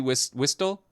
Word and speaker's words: whistle: A safety whistle? That T is silent.